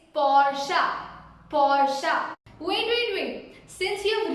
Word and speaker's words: Porsche: Is it Porsche or is it Porsche? No, it's Porsche.